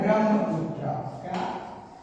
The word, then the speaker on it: ब्रह्मपुत्र: उत्तर पढ़ रहा है क्या पढ़ जाता है ब्रह्मपुत्र ब्रह्मा ब्रह्मपुत्र कर जाते हैं बीआरपी वाला